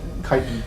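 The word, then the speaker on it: chitin: type limbs like the chitten is that how you pronounce chitten kit kit kiten that's how it's pronounced only seen it written the kiten type limbs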